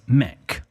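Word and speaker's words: meck: David has given us Mech m-e-c-k or m-e-k okay and that means uh I think it's just the northern way of pronouncing make all right okay so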